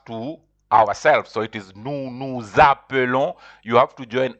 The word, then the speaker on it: nous appelons: So it is nous appelons. You have to join S with the A of the verb. So you pronounce it, and it is pronounced like a Z. You have to say nous appelons.